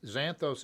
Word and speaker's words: Xanthos: oakville napa valley 2019 xanthos is spelt with an x x a n t h xanadu remember the old movie